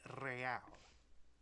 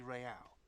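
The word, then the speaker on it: réal: you owe me 130 real pronounces the r with a mock aristocratic accent the i-i-r or into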